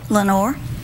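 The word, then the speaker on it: Lenoir: Lenore. Lenore? Mm-hmm. Like in the poem? Like in... Yeah, the raven. Lenore. It's not spelled the same way. Ah. It's French.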